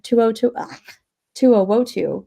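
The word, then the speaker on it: To'oTo'o: 2002. No, is that right? To'o.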